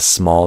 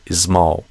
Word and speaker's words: small: A lot of Brazilians, instead of smile, they say ismile. Instead of snow, they do isno. Instead of small, they do ismal.